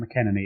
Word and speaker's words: McEnaney: yourself don't worry about it my name's McKenney it's an Irish name it's difficult to pronounce no one ever gets it right um